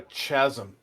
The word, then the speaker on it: chasm: Brian, is it a chasm or a chasm? I think it's chasm, right? Like with a K.